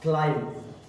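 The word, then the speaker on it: climb: have completed here one month जी बताइए आप spelling knowledge के एल O double L इ डी G knowledge यानी ज्ञान क्लाइम सी एल आई एम बी क्लाइम यानी चढ़ना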